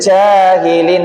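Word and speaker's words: الجاهلين: Jangan jahilin lagi jahilin agak ditekan karena dia huruf siddah, huruf yang kuat suaranya.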